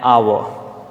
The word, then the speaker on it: hour: For example, an hour. Now, here H is silent. H-O-U-R, H is silent.